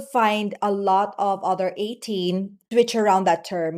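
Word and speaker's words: A'TIN: Okay, you're part now of the ATIN family. So ATIN, it's spelled as A, the letter A, apostrophe, and then TIN, 18. So it's pronounced as 18 or the number 18, symbolizing that fans complete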